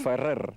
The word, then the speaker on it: Ferrer: Can you pronounce that for me properly? Ferrer.